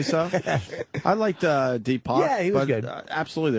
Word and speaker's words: Deepak: Tupac, how do you say his name? Oh, Deepak. Deepak. I kept thinking that, too. It's like, Tupac. Yeah, I think I was saying Deepak. Tupac and me. Deepak, right? Deepak, yeah.